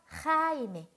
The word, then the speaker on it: Jaime: 네, 우리 호따 발음 잘 연습을 해주셔야 되겠죠? Jaime.